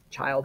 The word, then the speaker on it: Childe: And yes, it's spelled with an E, but really it's like Childe Harold, like the little boy Harold.